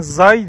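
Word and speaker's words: Giáy: Bunlar İngilizce yazılışı Thai people ama kendileri telaffuz ederken Zai diyorlar. Zai people diyorlar.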